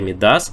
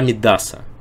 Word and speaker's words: Мидас: именно на последний слог и слово Мидас медас конечно же который вроде как можно перевести с английского Ну пришёл с английского языка многие много подумать Но на самом деле места - это не с английского А вообще из греческой мифологии если вы найдёте любой словарь то ударение будет на последний слог то есть Царь Мидас